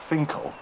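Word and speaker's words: Finchale: it that if you think about Finkle that's how you pronounce mm-hmm Finkle tell me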